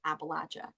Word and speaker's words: Appalachia: But everyone around here says Appalachia. Appalachia Mountains. So that's the correct way to say it.